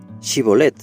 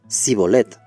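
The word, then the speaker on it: שיבולת: Les pedían que dijeran Shibolet, sabiendo perfectamente que eran incapaces de pronunciar el sonido sh o en hebreo. Aunque los soldados de Efraín sabían que sus vidas dependía de que pronunciaran apropiadamente esa palabra, ellos solo podían decir cibolet sin el sonido.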